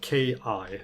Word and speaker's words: ki: It's spelled K-I, so ki.